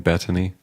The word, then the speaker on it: Betony: I have to ask, am I way mispronouncing by saying Betony?